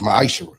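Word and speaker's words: מעשר: You can find this in the book of numbers 18 21 in the book of Malachi chapter 3 8-10 means 10th in Hebrew it's pronounced misher 10% of every penny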